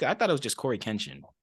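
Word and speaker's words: CoryxKenshin: Does he pronounce the X? I thought it was just Corey Kenshin.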